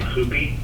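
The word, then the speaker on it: Hupy: J., and I believe he pronounced the last name Hoopy, H-U-P-Y.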